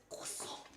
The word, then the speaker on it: croissant: Like, you need to be like choking on something while you say You have it. to plug your nose while you say it to say it right.